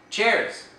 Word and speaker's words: chairs: cependant contrairement au français le S ajouté pour marquer le pluriel est prononcé il prend le son Z par exemple le mot chaise chair s'écrit chairs en anglais et est prononcé chairs dans le cas des